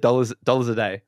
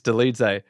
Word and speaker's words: Dolidze: I think I said dollars a day, but it's Dolidze.